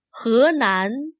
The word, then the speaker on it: 河南: 河南、湖南、 Notice that he is not pronounced as he. This Chinese word for river sounds more like he. 河南、 The Chinese word for lake sounds like hu.